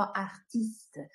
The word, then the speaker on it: artiste: Записуємо правопис, вимовляємо артист.